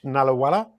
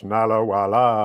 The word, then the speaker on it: Nallawalla: Today I'm here with Nallawalla. Is that the correct way to say your name? Yes. A quick hello, and we're good to go. Welcome to the show, Nallawalla.